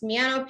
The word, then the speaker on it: Miano: Hi everyone, I'm Miss Miano. Similar, if you want to try to pronounce my name, it's Miano Piano.